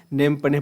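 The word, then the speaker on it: Phnom Penh: तो नेम पने है। पी से स्पेलिंग स्टार्ट होता है, नेम पने पढ़ा जाता है इसको।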